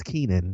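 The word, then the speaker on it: Keiynan: It's Keenan. Keenan, thank you. Keenan. Well, it's not how it's spelled though, but Keenan Lonsdale.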